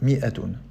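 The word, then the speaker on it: مائة: Pour dire 100, on peut écrire mi'atun comme ceci ou comme cela, avec un alif. Euh, c'est une règle d'écriture historique. Même en présence du alif, on prononce bien mi'atun.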